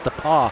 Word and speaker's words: The Pas: geography lesson just now it's spelled the pass but it's the paw the paw i thought that was